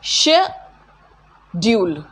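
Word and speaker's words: schedule: ये जो वर्ड होता है ना, ये अमेरिकन प्रोनाउंसिएशन होता है स्केड्यूल्ड, ठीक है, दो जगह चेंजेस होते हैं इस वर्ड में, दिस इज स्केड्यूल्ड, क एंड ज, ठीक है।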